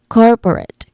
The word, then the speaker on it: corporate: So we say it as corporate. Cor is the stressed syllable. Corporate.